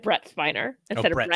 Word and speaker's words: Spiner: misspelled his last name it says spinner like no it still says spiner you're just not pronouncing it properly there's no double ends in Mhm.